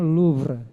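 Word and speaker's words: Louvre: Bacanya LVre gitu ya. Museum LVre.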